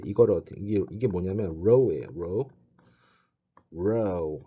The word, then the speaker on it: rho: row 하고 발음을 강하게 굵고 강하게 발음을 해주면 좋아.